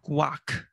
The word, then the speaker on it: quack: 근데 미국 애들은 quack, quack. 그러니까 얘도 사실은 one syllable이긴 해.